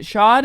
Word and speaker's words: Schadt: Is it Schadt or Schadt? Schadt. Schadt. No, so T is silent.